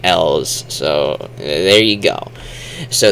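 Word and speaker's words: Elw: I just say L's. You know, like the letter L. L's. It's kind of how that sounds. I don't really like saying Elus.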